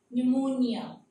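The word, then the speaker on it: pneumonia: हो गया, एन और ये भी एन, ये साइलेंट हो जाएगा। साइकोलॉजी, न्यूमोनिया, साल, न्यूमैटिक, पी यहां पर साइलेंट हो जाएगा,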